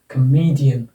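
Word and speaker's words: comedian: यहाँ पर जाकर ज़्यादा जोर देना है शब्द पर उच्चारण करते समय। ऐसे ही ये देखो, इस पर आ जाएगा, इस सिलेबल पर कमेडियन, कमेडियन, कमेडियन, कमेडियन, ठीक है।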